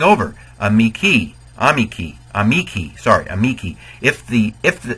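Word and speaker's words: amici: if the if the the rule of accents is if the second to last syllable is long it gets the accent so in a Miki that second to last uh vowel e uh is long and so it gets the stress a meiki um my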